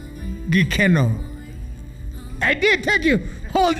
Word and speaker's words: Gikeno: So let's talk about the brand new song, and I want to make sure I pronounce it right. Gikeno.